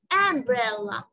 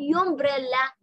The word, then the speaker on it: umbrella: هنا حرف اليو انطق أ زي الفتحة بهذه الكلمة، أقول umbrella umbrella. خلاص، ما حقول يومبريلا انطق يو، لا حنطق أ umbrella.